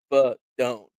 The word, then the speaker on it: Fidone: Yeah, Fidone pronounced Fidone like the sound your driver makes when you top it.